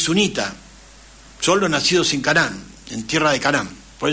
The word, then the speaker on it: Canaán: Aram y fue a Canaán. Canaán se escribe con dos A y con acento en la última A, que hoy es Palestina.